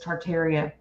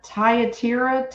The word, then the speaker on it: Thyatira: I pronounce it is I now I pronounced it as tartaria but it's flying in the area yeah and I went tartaria what what is it called it's uh tayatira thyatira yeah Sardis Philadelphia